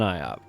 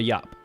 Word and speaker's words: Iop: Not too often I just run around with an IOP or a YOP. A YOP. I'm trying to start saying it correctly.